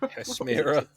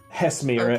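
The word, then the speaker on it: Hesmyra: Hesmira. Hesmira. Oh, It's spelled H-E-S.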